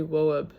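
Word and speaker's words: Loeb: The tr the transaction was h handled by Albert Henry WB.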